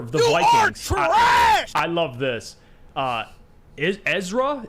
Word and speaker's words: Ezra: Ezra is how you pronounce his name.